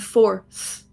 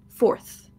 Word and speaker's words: fourth: Force with a S and fourth with a TH. Force, fourth.